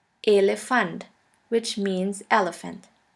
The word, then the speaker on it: Elefant: E, which is pronounced like the E in the word 10. The German word with the letter E is Elefant. Elefant, which means elephant.